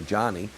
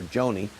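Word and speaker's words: Joni: way I apologize because I mispronounced her name in a recent broadcast I heard somebody on Fox or CNN call her Johnny but I heard several people last I call her Joanie I'm going to go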